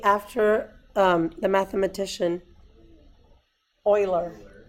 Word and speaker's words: Euler: named E it's called e after the mathematician Euler Euler that's how you pronounce that coiler okay so E is like